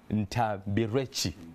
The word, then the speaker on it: Ntambirweki: I have Brian Ntambirweki. Did I pronounce that right? Yeah, you did. Not too bad. Well, Brian Ntambirweki is CEO of Brighter Monday.